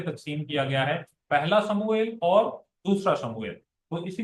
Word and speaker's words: سموئیل: ادا کیا جاتا ہے۔ ہم اسے اردو میں بھی سیموئل کہتے ہیں، حالانکہ یہ سیموئل نہیں ہے، یہ سموئیل ہے۔ اس کا جو صحیح تلفظ ہے وہ سموئیل ہے، اور یہ اس کا